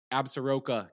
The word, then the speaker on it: Absaroka: You're listening because we went down to Wyoming, to a county, and make sure I'm pronouncing this correct, Absaroka County.